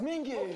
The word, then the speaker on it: Mingi: My name is Mingi.